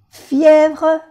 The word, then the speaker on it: fièvre: Fièvre es casi como en español, solamente que en español va con B y en francés va con V, que se pronuncia V. Fièvre. Non, br. Fièvre.